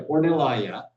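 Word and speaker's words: Ornellaia: Then he was offered a chance to go work for Ornela or I can never pronounce that producer correctly. Orlaya. Yeah, Ornellaya.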